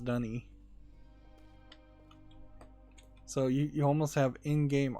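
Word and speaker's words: D'ni: And it's pronounced Dunny.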